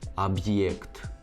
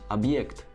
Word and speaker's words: объект: explain it, but basically one example is the word объект, which means object. Without the hard sign, it would be pronounced as объект, объект, объект.